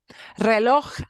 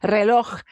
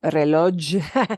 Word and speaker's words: reloj: Reloj, hard word to say. Reloj, we need that ch sound at the end because it's got a J at the end. So that's not pronounced reloj. It's reloj, reloj. A little bit like Loch Ness Monster, if you say it in a very Scottish way.